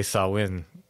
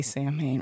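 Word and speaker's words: Samhain: danzig's second band yeah if you say sawwin yeah it sounds wrong just say sam main right yeah we know what the right thing is but we also know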